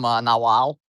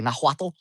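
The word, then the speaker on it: Náhuatl: I believe it actually comes from Nahuatl, or I never pronounce it correctly, Nahuatl.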